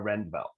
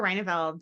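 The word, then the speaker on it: Reyneveld: And our next candidate is, and I apologize if I'm saying your name wrong, Rendveld. Yeah, it's Reineveld.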